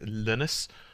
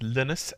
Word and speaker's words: Linus: the work of Linux Creator his name is Linus uh to vals hopefully they pronounced that right that's linnus l i n us and then to vals